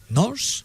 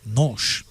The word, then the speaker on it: NOS: Le S ne se prononce pas comme en espagnol ou comme en français, mais les Portugais prononcent che.